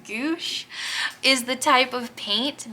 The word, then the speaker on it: gouache: I think it's pronounced gouache is the type of paint, but that's been